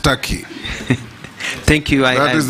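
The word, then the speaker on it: Türkiye: it's tur it's only written Tak but it's pronounced Taki thank you I that is the name of the country thank you I believe you meant the country of Istanbul and ankar yes it's called turkey in English turkey in Arabic yeah yeah that's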